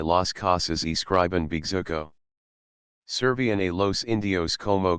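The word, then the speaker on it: bejuco: encaramars como la hydra, llamaban los indios Bigzuco, la penúltima sílaba luenga.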